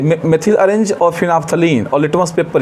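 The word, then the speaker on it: phenolphthalein: Litmus paper से पता कर सकते हैं, मेथिल ऑरेंज या मेथाइल ऑरेंज बोलिए, मेथिल ऑरेंज, फिनाफ्थलीन इसको बोलते हैं। स्पेलिंग देखिए PHENOL PHTHALEIN, फिनाफ्थलीन।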